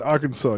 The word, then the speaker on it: Arkansas: I'm gonna tell a lie okay sorry in Arkansas you must pronounce the state name correctly Arkansas yeah Arkansas